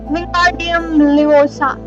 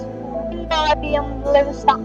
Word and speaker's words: Wingardium Leviosa: Wingardium Leviosa, he shouted, waving his long arm like a windmill. You're saying it wrong. Harry heard Hermione snap. It's Wingardium Leviosa.